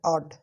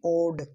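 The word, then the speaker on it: odd: ये वर्ड है ऑड, ऑड, ना कि ओड। ओड नहीं पढ़ के इसे ऑड पढ़ेंगे, ऑड, ऑड।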